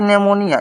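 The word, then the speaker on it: pneumonia: पर बेकार के लिखा गया है यह देखिए निमोनिया यहां पर निमोनिया है तो निमोनिया मतलब कि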